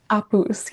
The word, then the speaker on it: Apus: Apus, yeah.